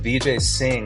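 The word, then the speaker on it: Vijay Singh: let us golf podcast VJ sing rhymes with golf swing you about that who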